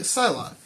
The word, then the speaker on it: Psylocke: Yeah, I said it right, Psylocke.